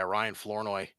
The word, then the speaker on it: Ryan Flournoy: Yeah, Ryan Flournoy.